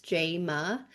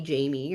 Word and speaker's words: Jaima: because it has been even though it's spelled phonetically and it to me it looks like it would be easy to pronounce, Jaima, but um it has been mispronounced all the time even to this day. Like if I go to a doctor's appointment, the the person calling me in will mispronounce my name, call me Jamie or whatever.